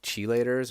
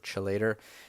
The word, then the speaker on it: chelator: naturally occurring heavy metal chelators or phyto chelators sometimes it's pronounced chelator or chillator these are naturally occurring